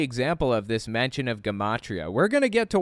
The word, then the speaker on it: gematria: It's pronounced gematria, which we'll get to in a minute.